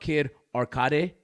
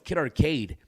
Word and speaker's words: Kid Arcade: said my name wrong what's up kid arade kid arade yes that's your name no it's kid arcade oh sorry kid arade